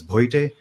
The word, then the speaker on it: Bhoite: My last name, if you are unable to pronounce, it's Bhoite.